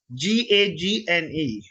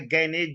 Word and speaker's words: Gagne: GAGNE, don't read it as the gagne, it is the gane. G is silent in the middle.